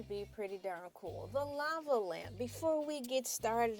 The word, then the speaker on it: Ela: And my name is LA, pronounced like the city.